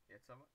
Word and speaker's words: Iecava: Give us the pronunciations and everything. Dynamo Yetsava versus Vaxio Lakers. Vaxio Lakers, yeah. Dynamo Yetsava. Yetsava.